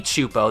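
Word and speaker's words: Csupo: For some incomprehensible reason, Klasky Choopo, that one horrifying face that's spelled completely different from this Choopo, but pronounces the same because the English language is inherently flawed, they took the time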